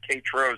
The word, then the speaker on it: Tétreault: Yeah, I was on the Gong Show as Bob Zany Tetrol, which is my real last name. It's French. It's Tétreault, the French pronunciation.